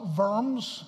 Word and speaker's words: Worms: you know eaten worms worms was the name of a city properly pronounced firms in German and the Imperial diet